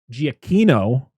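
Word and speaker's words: Giacchino: uh music was done by Michael Gia uh giacino which I figured out that's how you pronounce his last name because I watched there's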